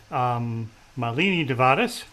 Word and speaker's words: Malini Devadas: Malini Devadas. You know, I would say it incorrectly. Emphasis on the first syllable, she said.